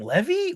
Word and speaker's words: Levy: Barrington Levi. I'm just letting you know. I'm not Barrington Levy. Yeah, because is that how you say it, Levy?